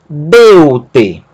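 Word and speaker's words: δεῦτε: Deu-te. Não é deu-te. Sílaba tônica não é a última, mas a penúltima. E isso está indicado pelo acento.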